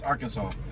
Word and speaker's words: Arkansas: that welcome to our well i say our kansas because that's how it's spelled but it's arkansas at we got our